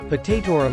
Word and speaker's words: potatorum: use in brewing beer potatorum is pronounced with the accent on the third syllable i.e hot taut t-o-h